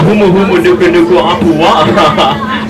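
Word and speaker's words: humuhumunukunukuāpuaʻa: Say Humu Humu Nuku Nuku Apua'a.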